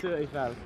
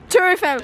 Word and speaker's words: Tour Eiffel: Wait, how do you say it? Tour Eiffel. Tour Eiffel.